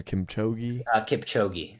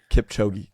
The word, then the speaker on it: Kipchoge: I just did not pronounce it as properly as you did. The marathon runner Kipchoge. Kipchoge, if it's correct.